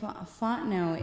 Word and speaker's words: Fontenot: It's French, so it's a very beautiful name when it's said right. Fontenot.